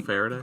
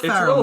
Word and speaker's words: Ferrell: Will Friday. Will Ferrell. Will Faraday. God damn it. It's hard with a 5-second delay to pronounce stuff right.